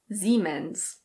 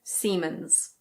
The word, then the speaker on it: Siemens: Here we have a German brand and in German it's pronounced Siemens. Siemens. In English we say Siemens.